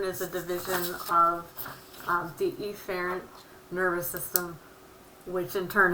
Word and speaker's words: efferent: sensory and then the efferent division which would be motor and I'm exaggerating the way you pronounce that a in the ER drill so that you can hear me it's afferent and efferent so you get the